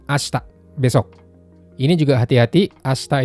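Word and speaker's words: 明日: Asta itu termasuk cara baca khusus karena kaji yang sebelah kiri itu harusnya dibaca akarui atau mei. Tapi di sini jadi asta.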